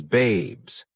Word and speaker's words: Babez: He had an emotional attachment to Babez, pronounced as Babes.